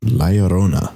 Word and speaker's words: La Llorona: La Llorona.